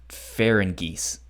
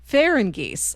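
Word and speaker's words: Farangis: I think it's pronounced Ferengis. Ferengis. Okay. If I remember from the anime, I believe it's pronounced Ferengis or like Ferengis. Okay.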